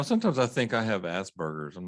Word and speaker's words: Asperger's: you know sometimes i think i have asperger's i'm not trying to be funny here sometimes